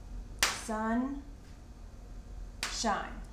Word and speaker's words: sunshine: The E, this was a long I in sunshine. That's right. And so we need the long E to make, or we need the E, the silent E, to make that I long.